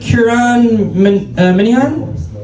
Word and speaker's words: Kieran Minihan: Is it Kieran Minihan? Correct. Sick. I said it right. Fuck yeah. Almost. You said it in a weird accent, but yeah.